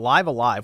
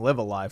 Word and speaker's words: Live A Live: saw this one coming live alive we now know how it's pronounced by the way because i've been saying live a live forever it's live alive july 22nd and it's